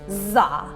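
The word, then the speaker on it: dza: And that seed syllable is Za, and it's spelled D-Z-A, pronounced Za.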